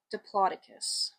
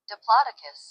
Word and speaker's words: Diplodocus: And that's okay, but the correct American pronunciation of the word is Diplodocus. I think with a Linnaean nomenclature, our Linnaean naming system, we need to consider the Latin roots of our names. Because I would consider it to be a Diplodocus, as properly pronounced in the Latin pathway.